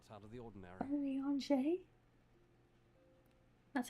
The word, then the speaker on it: Urianger: Urianger?